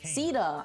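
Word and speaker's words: Caeda: Heroes such as Ceeda, Ceeda? Ah, so that's how you pronounce it.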